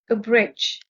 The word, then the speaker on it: abridge: soothing likable a bridge the stress is on the second syllable a bridge a bridge means to